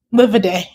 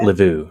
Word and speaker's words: Livaudais: Livaudais. Livaudais, not Livu.